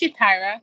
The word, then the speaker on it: Ja'Tyra: I'm your host, Saga Jakubchak, today joined by Ja'Tyra. Did I pronounce that correctly? It's Ja'Tyra. You have it correct.